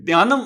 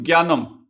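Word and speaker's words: ज्ञानम्: Okay, Dhyanam, I am using a Marathi pronunciation here. Dhyanam. In North India, it becomes Gyanam. In Gujarat, it becomes Gnanam. Maharashtra, it becomes Jnanam. I think the most precise, probably closest to Sanskrit is Marathi pronunciation, in my opinion. I could be wrong. But I prefer Marathi pronunciation, Dhyanam, for North Indian Gyanam or Gujarati Gnanam.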